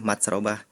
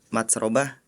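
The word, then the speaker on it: مَتْرَبَةٍ: Harusnya yang ayat 15 dibacakannya yatimang da makrobah, tapi tadi membacakannya matsrobah. Kemudian di ayat selanjutnya au miskinang da matsrobah, Ananda Farel membacanya makrobah. Jadi terbalik.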